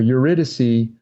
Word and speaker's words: Eurydice: with the beautiful Eurydice it's spelled like Yuri die see i gu r y di c e so Eurydice on the day of